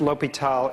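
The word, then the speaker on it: L'Hôpital: the same thing that it's still pronounced l'hopital even if it's got an S in it alright so that's the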